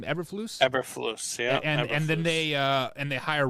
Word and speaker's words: Eberflus: Eberflus, yeah.